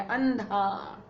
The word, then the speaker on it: अंधा: ऐसे ही अंधा, न, अंधा, ये देखो ध का पंचम वर्ण है न, तो इसका इस बिंदी का उच्चारण होगा न की तरह, अंधा।